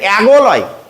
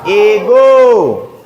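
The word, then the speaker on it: ago: তাহলে এখানে অ্যাগলয়, অ্যাপল যেমন হয়েছিল, কিন্তু এখানে অ্যাগো হবে না, এখানে কি হবে? এগো। ভিসিবি এ ভাওয়েলের নাম পড়তে হবে।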